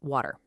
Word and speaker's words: water: million times, the word water. You see it written with a t, plain as day. But when you hear people say it, it sounds a lot more like waiter, right? With a d sound.